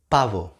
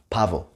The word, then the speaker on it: pavo: B and V sound the same in Spanish. It's not like in English.